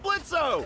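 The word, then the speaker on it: Blitzø: Hey, that sounds like Blitzo! The O is silent, asshole!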